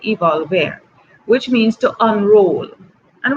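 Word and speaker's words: evolvere: era you've evolved era let me spell it because I don't want to say it wrong Latin Evo lver II evolved there yes that's what I want to say evolve there that's what I want to say evolve air which means to unroll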